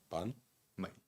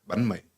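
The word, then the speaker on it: bánh mì: sneaky little half a banh mi on the side. Yeah. How do I say banh mi? Banh mi. Banh mi. Yeah, banh Banh mi. mi. Yeah. My. It's like me. Me. Yeah, banh mi.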